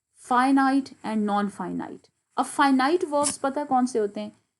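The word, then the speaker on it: finite: अब ये क्या है, फाइनाइट, इट is pronounced as फाइनाइट, फाइनाइट एंड नॉन फाइनाइट verbs.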